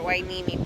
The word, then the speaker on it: Hueneme: the Ox our port hueneme player yeah you know when you pronounce the age human yeah no it's Hueneme the blog laughing